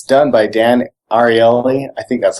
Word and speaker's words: Ariely: It's called A Beginner's Guide to Irrational Behavior, and it's done by Dan Ariely. I think that's how he pronounces his last name.